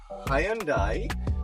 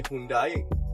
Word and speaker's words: Hyundai: and uh we are here today with uh Hyandai uh that's how you pronounce it usually Sri Lankan say Hundai myself included uh and we're in a Sonata